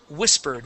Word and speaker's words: whispered: Now this word here is whispered with the accent at the beginning.